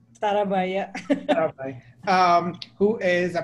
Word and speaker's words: Sarabhai: Did I pronounce it correctly? Sarabhai, yeah.